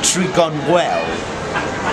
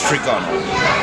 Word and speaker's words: Trigonal: Now, at the beginning, I called my house Trigonwell, but it's Trigonal.